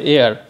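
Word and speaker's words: heir: আমরা বসাবো অ্যান, যেমন এইচ ই আই ই আর, এটার উচ্চারণ হবে এয়ার, এ হওয়ার কারণে মানে হ উচ্চারণটি নেই, হ উচ্চারণটি না হয়ে এখানে স্বর ধ্বনি উচ্চারণ হলো সে কারণে আমরা বসাবো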